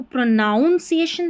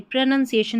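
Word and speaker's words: pronunciation: अब प्रोनंसिएशन जो रहता है इसको प्रोनाउंसिएशन नहीं पढ़ते। प्रोनंसिएशन इसका करेक्ट उच्चारण है।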